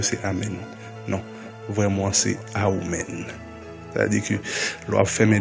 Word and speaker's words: Amen: Mais vraiment, ce n'est pas Amen, c'est Aoumen.